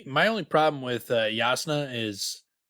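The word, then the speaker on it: Jasnah: with uh yasuna is why spell it with a j like if you're going to make the j silent because like it's hard for me not to say pronounce the j yeah or like it's easier to make it a y as far as i'm concerned yeah but it's just you know if you're gonna pronounce it with the y spell it with the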